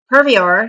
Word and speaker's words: purveyor: like stalin and hitler the purveyor purviewer is how you say that purveyor may already be in